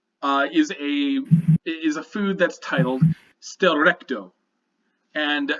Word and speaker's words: Schtllrechto: What you see is a food that's titled Stelrecto, and it's spelled SCHTLLRECHTO.